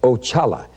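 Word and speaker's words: Oxala: of demons and and all witchcraft sex consider axallah now that was the first one i met and that's spelled o-x-a-l-a and it's pronounced ochala and he is the head of all spirits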